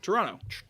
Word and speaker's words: Toronto: You got to say you got to say it like a good Canadian boy. Yeah, I dropped the tea there. Toronto. Toronto.